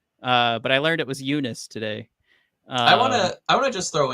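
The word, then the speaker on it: Joonas: No, Eunice, his first name. I think I've always said Jonas. But I learned it was Eunice today.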